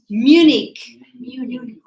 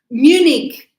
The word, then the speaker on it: Munich: Munich. Yes, the pronunciation is with a K. Munich.